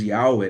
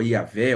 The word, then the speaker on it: Yahweh: o Deus do pacto, o Deus Yahweh, né, ou Yahvé, ou Javé, dependendo de como algumas pessoas tentam pronunciar, mas é o Deus eu sou, o Deus que se revelou também para Moisés.